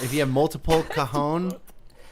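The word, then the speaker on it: cajón: pronounced differently how does how is it pronounced is kahon that's how you say kahon kahon that's how do you that's how you say that little square drum looking thing and then if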